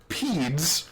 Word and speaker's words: pedes: him roughly to his peds. I'm going to guess is how you pronounce that. It's P-E-D-E-S. Like pedestrian, right? Okay, all right. Or centipede.